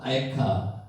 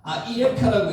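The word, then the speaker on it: אַיֶּכָּה: 아예카 아 이에카라고 읽기도 하는데 아예카 이렇게 읽습니다.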